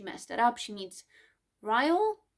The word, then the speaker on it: Ryle: She meets Ryle. I think that's how his name is pronounced. I thought it would have been like Riley, or I don't know. So Ryle, and they have like naked truth.